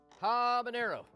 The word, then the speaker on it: habanero: okay water right habanero i'm glad you're pronouncing it right and uh you didn't have to learn the hard way like i did from john rubio oh stop pronouncing it with a tilde habanero you sound like an idiot you did say that